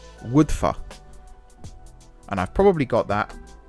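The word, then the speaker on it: Wyddfa: So the Y is pronounced like a U and the U is pronounced like a Y, and why I don't know, but so I think that is pronounced Woodfa.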